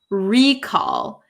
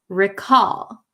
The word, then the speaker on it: recall: recall recall um so be careful of the pronunciation uh for this meaning it's not recall it's recall recall okay oh very good hustle